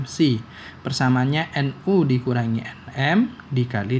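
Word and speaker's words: ψ: Ini secara bacanya psi.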